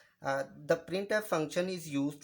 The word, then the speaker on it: printf: The function प्रिंट एफ is pronounced as प्रिंट एफ। तो जो function प्रिंट एफ है इसको प्रोनाउंसिएशन जो उसकी बनेगी यानी प्रिंट एफ इस तरह बोला जाएगा इसको।